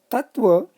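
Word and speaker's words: तत्त्व: No, Tattva is Tat plus Tva, having syllables Tat plus Ta plus Va. Syllabic structure of Sattva is also similar, Sat plus Ta plus Va. The Ta is doubled, the in-between Ta is doubled. That is what is to be noted. Even in pronunciation and also in writing, that double ta has to be written.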